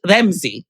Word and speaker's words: Ramzi: it would be pronounced in the Arabic it would be pronounced Ramsey right right like it's right so it's almost like re e mz Zi rather than R A M ZI and I think that